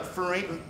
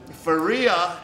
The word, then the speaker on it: Faria: And she's fighting Kalindra Farina. How do you say her last name? Faria, and right now it's pretty much a pick'em.